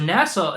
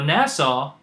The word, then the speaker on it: NASA: items on there now NASA is actually you're like okay well NASA is four however how do we pronounce it we break it down to two syllables Nat and saw so if you look